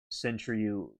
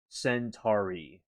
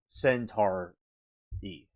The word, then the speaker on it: Centauri: Okay, and Lori says alien Centriu pronounced Centauri. Oh, okay. Centaur E. Okay. I got you. Thank you. Like Tara on a roof.